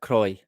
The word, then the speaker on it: Croy: not spelled c r o iix but definitely pronounced and spelled Croy and it is not not even very far